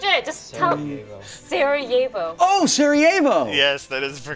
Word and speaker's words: Sarajevo: Oh, Sarajevo. Yes, that is the correct pronunciation.